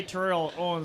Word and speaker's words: Terrell: Deion Sanders Terrell Owens you got to say his name right yeah you gotta say Terrell or else he won't talk to you and who else we